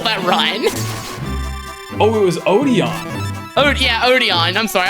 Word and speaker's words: Odion: Yeah, actually, because Odian did kill that run. Oh, it was Odion. Oh, yeah, Odion. I'm sorry, I'm pronouncing that weird.